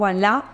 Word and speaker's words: Ualá: una sola aplicación y que esa aplicación sea Wallah.